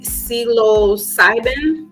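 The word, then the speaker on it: psilocybin: about it um and that what is it celo cybin I think if that's the way I'm gonna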